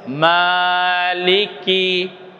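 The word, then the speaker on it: مالكي: একটি আয়াত লিখেছি, দেখুন আমরা নিয়েছি ম, তার উপরে খাড়া জবর বসিয়েছি, অর্থাৎ দীর্ঘ আকার উচ্চারণ হবে মা, একটু লম্বা বলুন মা। এরপরে লামের অস্বীকার লি, কাপের অস্বীকার কি, উচ্চারণ কেমন হবে মালিকি বলুন মালিকি।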